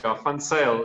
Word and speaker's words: Van Zyl: Today we have Van Zyl. Did I say that right? That's more or less correct. Van Zyl is the Afrikaans pronunciation, but that's fine, don't worry.